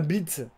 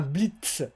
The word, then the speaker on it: blitz: Donc je dis un blitz. On dirait qu'il y a un D à la place du T. Donc j'essaye de dire un blitz.